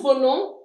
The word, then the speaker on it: venons: Nous venons. We don't pronounce the s.